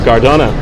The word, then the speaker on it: Gardone: Oh, Gardona. That's the appropriate pronunciation.